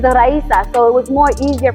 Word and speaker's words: Raisa: was just like, well, nobody ever knows how to say my name right. It's like Raisa, Riza, Riza, and it's like my name is Raisa.